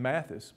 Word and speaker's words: Matthews: generation or so ago pronounced their name mathis but it's spelled like we would say matthews and some of these